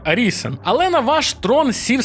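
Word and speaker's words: Arisen: драконячий догмат До речі пишеться як orizen але читається саме як аріisен але на ваш Трон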